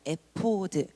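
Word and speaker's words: אֵפוֹד: 여기서 에봇이라는 말은요, 히브리어로 에포드입니다. 에포드. 히브리어 발음 그대로 한국어로 번역해 놓은 것이 에봇입니다.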